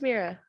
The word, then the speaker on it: Mira: said my name is Mira Mira thought her name was simple and easy but the other kids couldn't say it right they stretched out the eye until it sounded like an e and there are sounded